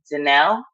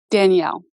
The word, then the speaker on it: Danelle: you pronounce your name Danelle or do you pronounce it Danielle Danielle okay um I was